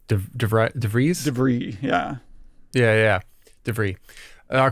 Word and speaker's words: De Vries: How do you pronounce his name? De Vries? De Vries, yeah.